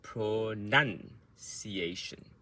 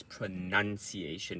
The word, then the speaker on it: pronunciation: Pro is softer. Nun is the loudest, the word stress, the sound stress, and ciation at the end is quick.